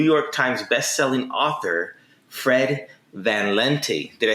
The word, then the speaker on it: Van Lente: fred just my family my family's always pronounced it van lente uh if we were in amsterdam it would probably be vandaling okay but you know